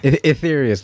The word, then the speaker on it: Aetherius: a tricky word to pronounce etherious like ether basically is where where that name comes from ether ether Society